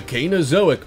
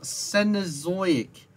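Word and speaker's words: Cenozoic: predators in South America around the canozoic period you mispronounced senozoic that simple this is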